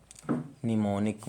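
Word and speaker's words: mnemonic: यदि किसी वर्ड के शुरू में यम एन हो तो यम साइलेंट हो जाता है, जैसे कि निमोनिक मतलब स्मृति या सहायक, निमोनिक और निमोनिकल। इसके बाद निमोनिस्ट।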